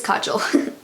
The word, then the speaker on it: kajal: this matte black color check the pronunciation yeah I was right it is Kajal and that means coal